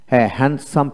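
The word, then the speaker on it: handsome: তারপর সুদর্শন মানুষ হ্যান্ড হ্যান্ডসাম people এখানে এইচ এন হ্যান্ড ডি এর উচ্চারণ হবে না হ্যান্ডসাম পিপল কালো মানুষ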